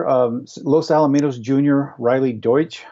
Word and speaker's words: Deutsch: Los Alamitos junior Riley Deutsch I believe is how you would pronounce that de UT SCH scored four goals in the